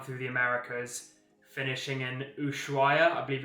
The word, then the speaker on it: Ushuaia: the way down through the Americas, finishing in Ushuaia, I believe it's pronounced, in Argentina.